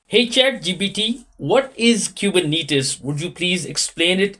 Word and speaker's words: Kubernetes: running smoothly is it kubernetes or kubernetes it's pronounced kubernetes the name comes from the Greek word for Helmsman or Pilot which is fitting since kubernetes help steer and manage application okay it means that it is kubernetes yes that's right kubernetes is how you say